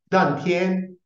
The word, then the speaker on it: Dantian: originário da filosofia chinesa, que em chinês é chamado de Dantian e em japonês é chamado de Tanden. Tanden é a pronúncia japonesa destes mesmos ideogramas, desses caracteres chineses que